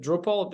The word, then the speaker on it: Drupal: And as a software, is it Drupal? Am I pronouncing it right?